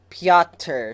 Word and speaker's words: Piotr: pronounced his name and he pronounced it as Peter so I don't know if it's like piata like Peter the way he said you say it close enough to where it sounds like Peter but I don't know